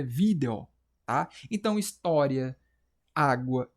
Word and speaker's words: vídeo: Cara, vídeo se separa assim, vídeo. A sílaba tônica é o vídeo, é vi, é paroxítona.